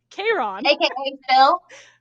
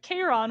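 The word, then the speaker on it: Charon: yeah so so you have chiron which is the centaur and then you have k ron which is the firemen of the dead so their names are not spelled the same but they are pronounced almost identical so yeah so while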